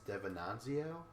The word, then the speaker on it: DeVenanzio: So right now is Johnny Bananas Devenanzio, I think his last name is. Sure. I'll accept that pronunciation because that's the correct one.